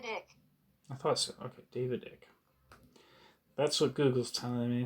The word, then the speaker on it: David Icke: I think I'm pronouncing it right. David Icke. I thought so. Okay, David Icke.